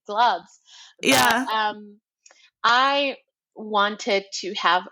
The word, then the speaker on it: Glubbs: saying it right because people sometimes say glopes which I'm like obviously gloves um I wanted to